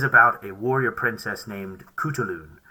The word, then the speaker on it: Khutulun: week's episode is about a warrior princess named kutulun spelled k-h-u-t-u-l-u-n but you probably know that because